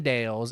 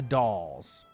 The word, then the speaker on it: Dales: So, it's pronounced more like Dallas like Big Al's Toy Barn, right? So, the Dals. Okay. Today we learn it is not the Dales, it is the dolls.